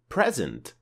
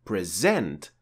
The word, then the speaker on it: present: So with present, the stress is on the first syllable of the word. But with present, the stress is on the second part of the word.